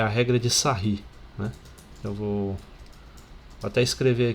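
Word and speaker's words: Sarrus: é a regra de sair né eu vou até escrever aqui em cima a regra de como se escreve sarros né mas a pronúncia em francês é sair ok e essa regra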